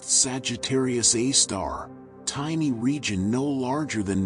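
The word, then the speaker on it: Sagittarius A*: Most interesting was very compact bright radio source called Sagittarius Asterisk pronounced Sagittarius A star tiny region no larger than Mercury's orbit emitting tremendous energy amounts.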